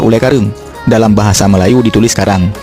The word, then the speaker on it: Ulee Kareung: lidah orang Belanda Nah untuk Ule karing Sebenarnya nama asli adalah Ule Kareung dalam bahasa Melayu ditulis